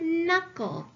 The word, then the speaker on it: knuckle: in that first syllable I have a ghost letter digraph K and let's underline that and let's cross our ghost letter I have a vowel